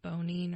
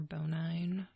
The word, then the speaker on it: Bonine: It's Bonine or Bonine. Bonine, it depends on how you pronounce it.